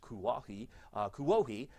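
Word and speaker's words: Kuwohi: a Klingman's Dome, which is now, I guess, pronounced Kuohi, you're going to find that those winds are going to be stronger in the tops of the mountains.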